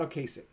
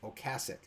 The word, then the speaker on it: Ocasek: in addition to Rick Ocasek until like 3 years ago. Remember, or Cass. It's Cass. It's Mama. Think of Mama Cass, because it's not Ocasek. It's Ocasek.